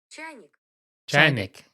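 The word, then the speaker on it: чайник: Russian, a teapot is chaynik.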